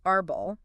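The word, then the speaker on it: árbol: how about the word Aral meaning tree okay Aral the stress is definitely on the first syllable a r mm and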